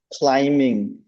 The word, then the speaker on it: climbing: wait, not climbing, okay, climbing, climbing. That B is, doesn't have the sound, so climbing, okay? It's only the has the sound. B has no sound.